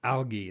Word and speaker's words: algae: Al Al bloom a l g a l algae is how you pronounce it an algae bloom happens in the